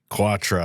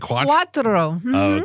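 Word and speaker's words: quattro: okay how do you say four in Italian quatra I don't know yes that's Quatro Quatro exactly right okay now I want you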